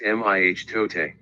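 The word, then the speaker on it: mitote: which the toll text called a mitode pronounced mih tote your mind is a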